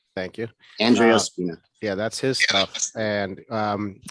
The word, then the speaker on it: Andrea Spina: Andrea Spina. Thank you. Andrea Spina.